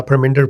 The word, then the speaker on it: Parminder: Am I pronouncing your name right? Yes, you're Perminder Parhar. Yes. Hi, my name is uh Perinder Parhar.